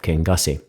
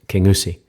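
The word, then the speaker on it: Kingussie: Highland Wildlife Park near the small town of King gasi it's actually properly pronounced King USI instead of King Kong Kong's escape the locals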